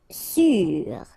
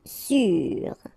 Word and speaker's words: sûr: Sûr. Accent circonflexe on the top of U. Sûr.